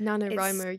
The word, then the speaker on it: NaNoWriMo: Also, that NaNoWriMo, is that how you say it? It's NaNoWriMo, yeah.